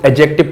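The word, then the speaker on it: adjective: एडजेक्टिव को भी एडजेक्टिव पढ़ते हैं, डी साइलेंट रहता है, ठीक है।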